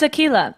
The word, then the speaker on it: Akela: no, it's Akila. And Akila.